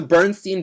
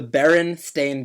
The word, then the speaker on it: Berenstain: I have to think about it because the Bernstein Bears. The actual name is the Berenstain Bears.